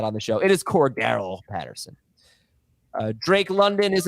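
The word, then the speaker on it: Cordarrelle: debate about that on the show it is core Daryl Patterson uh Drake London is a top 24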